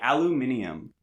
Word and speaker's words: aluminium: But the kryptonite of the Marshall family of superheroes is aluminum foil. Spoiler. Or as the British say, aluminium.